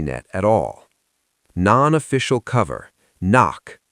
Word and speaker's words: NOC: Knock. Pronounced knock.